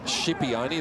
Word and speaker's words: Shipione: And we should mention again, Roscoe, that you checked with Josh, and his name is Shipione. That's the way he wants it pronounced.